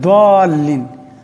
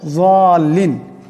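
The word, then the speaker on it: الضالين: আসলে দাল্লিন বলা কোনো শব্দ নেই আরবিতে, জাদ আছে, যাল্লিন। এই জাদের উচ্চারণটা হবে জিহ্বার একটি কিনারা এবং উপর পারির সোয়ালের দাঁত, তার থেকে উচ্চারণ হলে যাল্লিন হবে, দাল্লিন হবে না।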